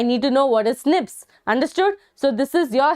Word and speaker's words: SNP: based DNA difference snps single nucleotide polymorphism pronounced as Snips occur in human this